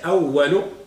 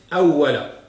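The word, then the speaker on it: أولَ: Ou alors, awwala, on ne va pas la prononcer awwalo, on va la prononcer awwala, avec al-fatha.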